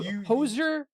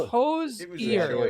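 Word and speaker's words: Hozier: Ho hoser, but it's hose ear. Hosier. It's hosier. Okay, so that's I said it wrong.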